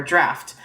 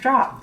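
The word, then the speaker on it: draught: Um, there's a filter which is usually a love potion or draft. Um, which is like the same. Um, it's spelled drought, but I didn't know this.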